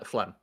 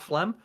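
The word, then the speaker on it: Phlegm: They're just um Flem. I think that's how they pronounce it. P H E L G M. So I pronounce that Flem.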